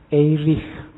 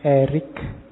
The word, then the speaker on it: Erich: ketemu erish from membacanya Kalau bahasa aslinya karena lahir di Jerman orang Jerman membacanya eich from tapi nanti dia saat sukses hidupnya di Amerika orang Amerika membacanya lebih suka pakai Erik Jadi belakangnya k makanya kita